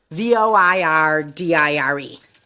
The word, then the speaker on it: voir dire: I do, because I knew this was called voir dire, or to speak the I have a truth as question. it translates. How do you spell that? VOIRDIRE.